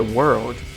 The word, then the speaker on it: World: World né que World é difícil de pronunciar essa palavra porque se você falar sem o o l fica palavra né Word mas não é Word é World então é meio complicado